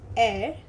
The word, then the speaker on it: er: Now he in German is air.